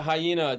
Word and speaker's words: Hyeena: And that's how you say it, right? Yeah, Hyena just fucking just threw a extra E in there, uh, just to have it be its own thing.